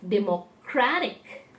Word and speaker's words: democratic: ending has you know we have added a t i c ending there it's democratic so the shift in the syllable is from the first to the second to the third in the third word